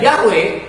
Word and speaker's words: Yahweh: Kalau nama Tuhan itu adalah Yod He Waw He, yang saya bacanya itu sama kayak orang-orang Ibrani baca ya, yaitu Yahweh.